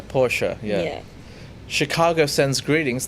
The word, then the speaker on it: Porsche: our member said that mr porsche pronounced it as porsha yeah porsche yeah yeah chicago sends